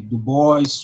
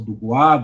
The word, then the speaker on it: Du Bois: Du Bois, ou Du Bois, dependendo da pronúncia, e todos esses que construíram uma perspectiva negra marxista.